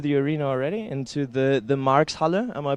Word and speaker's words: Marx Halle: sneak peek into the arena already, into the Marx Halle. Am I pronouncing it correctly?